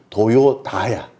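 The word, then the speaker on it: Toyoda: 스펠링이. 맞아. 네. 그런데 이 도요타 자동차 회사를 만든 집안 이름이 도요다야.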